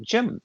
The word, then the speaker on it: JM: And just pronounce it Jim without the I.